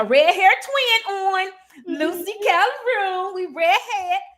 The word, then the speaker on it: Calderon: Did I say it right? Calderon. Perfect.